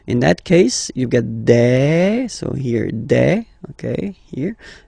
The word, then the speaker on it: des: Okay, and then the plural form, des. All right, here s you pronounce it like e.